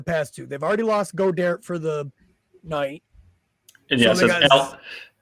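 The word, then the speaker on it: Goedert: of choice to pass to they've already lost go dare for the night and yes that's alex got her but on this show he's called go derek because we can't pronounce anything um yeah so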